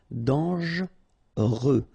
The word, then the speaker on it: dangereux: Okay, so final X not pronounced, and then don't really pronounce this here. Dangereux.